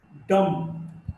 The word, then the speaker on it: dumb: Dumb, this B is not pronounced.